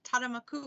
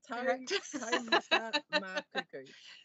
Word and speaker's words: Taumata Makuku: Tatamakuku. No, you're doing great. Taumata Makuku. Yeah. I know it's a very long word, but it's a loving word. Taumata Makuku. You got it.